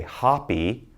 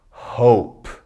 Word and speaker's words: hope: we put short e don't say hoppy we say hope it's like I hope it does not rain tomorrow because I'm going to the baseball game things like that alright before it was hop now hope with the long vowel